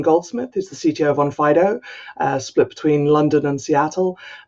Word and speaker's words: Onfido: I'm the CTO at OnFido, or actually OnFido. Mary, you made me pronounce my own company wrong.